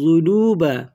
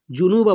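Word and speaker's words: الذنوب: ফাগফিরলি ফাইন্নাহু লা ইয়াগফিরুয যুনুবা জুনুবা বলবেন না, জাল এখানে জাল, লা ইয়াগফিরুয যুনুবা ইল্লা আতা ইল্লা আতা।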